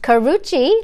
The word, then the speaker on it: Karrueche: how to spell that it's pronounced Karrueche like Gucci but anyway I'm so